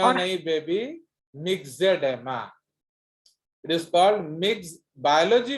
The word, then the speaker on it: myxedema: Excess thyroxine माइक्सोडेमा or नहीं baby, मिक्सेडेमा। इट is called mix. Biology में OE is pronounced as E. ई That is called myxedema.